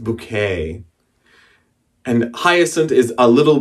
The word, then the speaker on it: Bucket: who her name is hyacint bucket but she pronounces her name she's hyacinth bouquet and hyacinth is a